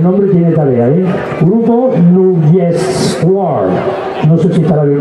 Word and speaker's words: Nrutyeshwar: Grupo Nugeshwar, no sé si estará bien pronunciado. No está bien pronunciado, te doy el micrófono y lo pronuncias tú mejor, ¿verdad? Venga, Nugeshwar, la palabra se divide en dos partes, Nutri,